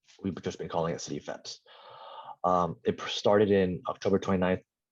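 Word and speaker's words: CityFHEPS: any problems next okay city pheps the h is silent so we've we don't call it some people call it cfa heps but we've just been calling it city fence it started in october 29th uh 2018.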